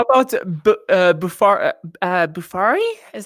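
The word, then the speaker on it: Bofuri: me into well how about uh buffalo uh bufari is how you say it uh i didn't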